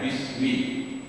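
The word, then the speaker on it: بسم: Ismi seharusnya tulisnya bi ismi, karena disambung langsung saja bacanya bismi.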